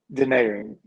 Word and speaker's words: Denaron: got it in the Yeah, parentheses yeah, like Denaron. Is that right? Welcome to the show. Denaron.